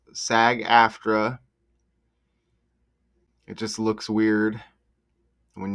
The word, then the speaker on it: SAG-AFTRA: SAG-AFTRA is pronounced SAG-AFTRA.